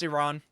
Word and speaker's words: Iran: It's Iran. I know how it's pronounced.